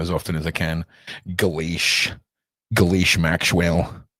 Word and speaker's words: Ghislaine: Gillen. It's pronounced Gillen. Hello, I am Gillen. Well, I'd prefer to mispronounce her name as often as I can. Ghislaine Maxwell.